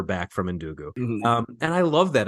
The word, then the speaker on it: Ndugu: as he's talking to Ngobo, I think the kid's name is, or something like that. Ndugu. Ndugu, right. It's even harder to pronounce. It's like Ndugu, I think.